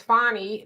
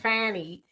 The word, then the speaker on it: Fani: welcome to feminism Cecilia you say her name is fonnie not Fanny people if you talk